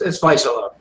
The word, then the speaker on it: Vaisala: It's Vaisala.